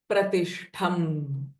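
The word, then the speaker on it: प्रतिष्ठम्: So whenever pra sound comes, before that a pressing effect will come. Tadrupa, lips will be closed. Tadrupa pratishtham.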